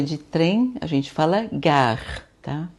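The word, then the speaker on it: gare: Quando a estação é de trem, a gente fala gar, tá?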